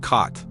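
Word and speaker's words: khat: Dotmore describes cot spelled cot. He pronounces it like cot, a leafy plant chewed as a stimulant.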